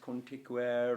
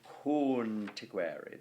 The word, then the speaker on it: conticuere: So, right, the very first syllable, conticuere, that is a long O because it's O followed by N and T.